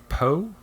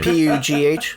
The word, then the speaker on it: Pugh: Florence Poe? Pugh. Pugh? Pooh? I don't know how to say her last name. P-U-G-H.